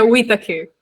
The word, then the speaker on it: Whitaker: nossa convidada é a, como que se pronuncia teu sobrenome? É Whittaker. Whittaker.